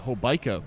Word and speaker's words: Hobeika: of her varsity career yeah and actually pronounced uh hobeika but a really nice